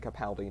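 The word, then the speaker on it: Capaldi: I'm saying Kapali now cuz it's it's the correct pronunciation.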